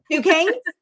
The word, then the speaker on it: Duquesne: I don't even know how to pronounce it. It's so impressive. Duquesne? Yes, okay. Duquesne.